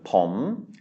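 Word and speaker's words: ผม: And so it is a rising tone, pom.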